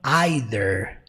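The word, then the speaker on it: either: próxima expressão Líder Way no britânico às vezes é pronunciado como aider então tá errado de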